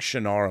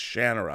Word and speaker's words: Shannara: Brooks once and I go I've been saying shinara my whole life how is it pronounced he said it's Shannara I'm like okay cool anyway and then I